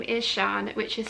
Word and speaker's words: Sian: So my name is Sian, which is spelt S-I-A-N with a circumflex over the A, but it's pronounced S-H-A-R-N, Sian.